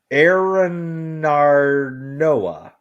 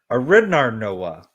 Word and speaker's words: Arinarnoa: So I'll spell that for you guys. ARINARNOA. ARINARNOA. Correct. Aranarnoa. There you go. Aranarnoa.